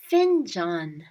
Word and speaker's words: fincan: Fincan. Fincan. Remember, in Turkish, the letters are pronounced differently than in English. So we have to twist the words that are in English so that we get the right Turkish word. Fincan. Find John. Fincan.